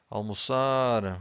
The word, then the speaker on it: almoçar: Every time you have a word that ends with an R, you stress the final syllable, okay?